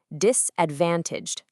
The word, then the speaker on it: disadvantaged: When discussing demographics that face social or economic barriers, the AI coaches our learner to put a very specific heavy emphasis directly on that van syllable. Say it with me, disadvantaged.